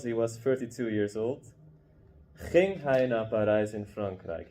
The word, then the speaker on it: ging: ging. Yeah, so this, you know there's a g here, but you don't pronounce it as a g, it's a ng sound.